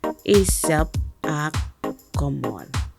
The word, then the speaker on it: Ijab akomol: Today's phrase is Ijab akomol and is pronounced Ijab akomol.